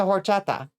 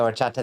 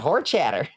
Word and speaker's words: horchata: You find the, like, auténtico Mexican places and get the horchata there, and it will change your life. You work with someone that pronounces it horchatter.